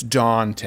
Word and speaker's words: Daunte: Daunte. It's Daunte. Oh, I thought it was Dante.